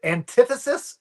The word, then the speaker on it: antithesis: Fantastic four anti antithesis. That's how you say that.